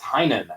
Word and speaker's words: Tynion: and I and I my head kept telling me to say tenyon and it's not it's it is tinan actually there you go it's not not how it's spelled at all so yeah no I'm